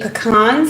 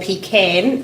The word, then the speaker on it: pecan: And I believe it's going to be pecan season soon, or pecan, as I would say.